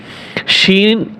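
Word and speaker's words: شين: হবে সিন শিন এটাও তিন আলিফ টান হবে এই পর্যন্ত তিন আলিফ টান হবে শিন শিন আর এটা সিন এটা শিন যে সাব্দ আসবে আর এটা কিসকিস আওয়াজ আসবে সিন যদি হামজা সিন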